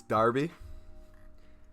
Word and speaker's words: Derby: oh there we go this guy said derby it's darby listen i can pronounce it